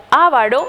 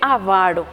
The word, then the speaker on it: avaro: abuja son incorrecciones fonéticas las incorrecciones fonéticas también pueden darse por desplazamiento de acentos Es decir pronunciamos de forma incorrecta la sílaba que debe ser tónica a veces decimos intervalo en vez de intervalo o especimen en vez de Espécimen o ávaro en vez de avaro acentuamos de forma incorrecta